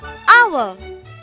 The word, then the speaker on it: hour: H here is silent. Example, an hour.